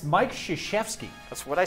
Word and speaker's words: Krzyzewski: It's Mike Krzyzewski. That's what I said. No. Mike Chevsky.